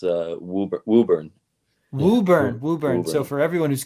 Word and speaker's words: Woburn: It's Woburn. Woburn. So for everyone who's curious, it is not spelled with 2 O's or WHO.